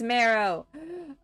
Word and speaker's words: Marrow: from the crystal Morrow I keep pronouncing it tomorrow it's marrow ah okay it's fine